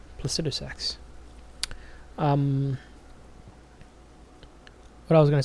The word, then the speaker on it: Placidusax: First of all, it's pronounced Placidusax, huh? I've seen some people pronounce it that way, so I was like, okay, I've always said Placidusax. Well, now I know. Placidusax.